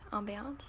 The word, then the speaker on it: ambiance: And yeah, they're pronounced according to however you spell it. So it's like ambiance if you spell it with an A, or ambience if you spell it with an E.